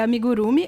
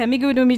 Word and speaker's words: amigurumi: bastante da cultura japonesa, ele falou que não tinha tônica. Olha. Que na verdade é como se todas as sílabas fossem tônicas. Então não tem amigurumi, nem amigurumi e nem amigurumi. Meu Deus. É tipo como se fosse amigurumi, tipo tudo junto, assim, então, sabe? É algo impossível de falar, já que a gente tá acostumado a que toda palavra tem uma sílaba tônica, né? Tipo, impossível. Então pode falar de qualquer jeito.